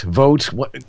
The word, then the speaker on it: Voat: about uh voat voat vote we're not sure how to pronounce we're gonna have to ask I just learned its vote see I was right